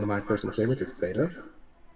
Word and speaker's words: Theta: And then one of my personal favorites is Theta. So Theta, like the brainwave, right?